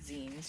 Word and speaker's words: zine: These are popular, they're called zines usually, which is short for magazine, just a shortened word of, you pronounce it zine, like the end of a magazine.